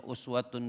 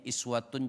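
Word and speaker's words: أسوة: Ada yang bacanya uswatun boleh, ada yang bacanya iswatun juga boleh.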